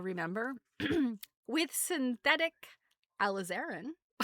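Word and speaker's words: alizarin: Um, so yes, it it is actually alazarin. Um, so sorry Bob Ross, you were pronouncing it wrong. It's it's an Arabic word.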